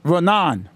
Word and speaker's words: Raanan: you never corrected me how you been saying it renon oh is it that's right yeah that works well nonpers feel about